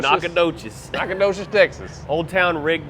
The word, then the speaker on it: Nacogdoches: We're getting ready to head out to Nacogdoches, Texas. You said it right. Nacogdoches.